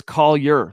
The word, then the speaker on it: Collier: It's Collier. That's how you say his name.